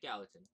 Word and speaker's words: Gallatin: Yeah, Gallatin.